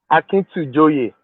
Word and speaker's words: Akintujoye: My goodness, I thought I have learned how to pronounce it. Yeah? Akintujoye.